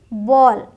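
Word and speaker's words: ball: एल नहीं है बी ए एल एल है बट बोलते क्या है बॉल वॉल फॉल हॉल स्मॉल ठीक हाल फाल स्माल ये नहीं बोलना ऑ करके बोलेंगे ध्यान रखिएगा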